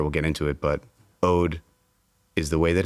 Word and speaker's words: Oade: get into it, but Ode is the way that it's pronounced and it does mean the word Ode O D. Um, but it's a blend of the word Ode and the word oak.